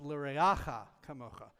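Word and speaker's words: לְרֵעֲךָ כָּמוֹךָ: It's not ve'ahavta l'reacha kamocha. It's not, I said ve'ahavta l'reacha kamocha. He said, no, it's l'reacha kamocha. Make sure you pronounce it correctly.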